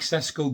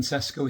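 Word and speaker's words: Šeško: And that could very well be the case with Benjamin Sesko here, or Sesko, as it's pronounced, I believe.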